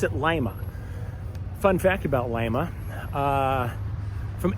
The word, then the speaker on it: Lima: Lima is actually named after Lima, Peru, but they pronounce it Lima.